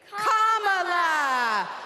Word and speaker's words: Kamala: do you pronounce it first you say comma like a common a sentence then you say la like la la la la la put it together and it's one 2 three comma all right so let's